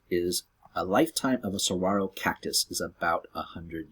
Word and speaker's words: Saguaro: spelling that means it tells you how to pronounce it it's not so guaro it's Saguaro also right here that little circle that stands